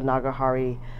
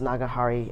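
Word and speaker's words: Nagahara: I got it custom grind on the spot with the Nagahari, I think it's pronounced Nagahari, custom sig nib.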